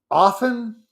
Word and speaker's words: often: are like hasten, soften, often. I guess the T is a little more silent, is silent a little more often than I thought.